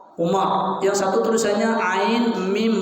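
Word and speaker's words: عمر: Tulisannya yang satu Umar, Ain Mim Ra, Umar.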